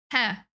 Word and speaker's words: He: It's pronounced with an E similar to the word in herd. Heh? Heh? Heh? Like that? I don't know why I'm making it sound like a question. Hair.